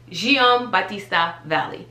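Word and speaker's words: Giambattista Valli: So Gian Battista Valli. That's how you pronounce it.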